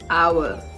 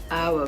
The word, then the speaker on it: hour: right time okay again another word with the h letter but without the H sound hour hour pronounce the same